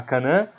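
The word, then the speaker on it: Kanna: É Kana. Kana. Tem Kan e Na.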